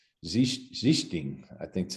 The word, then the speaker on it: Sichting: I mean, I've even asked Dirk Nowitzki, and I think he pronounced it more of a Z sound at the start. Sichting, I think, is how he kind of, but our family Americanized it, that's through the pronunciation.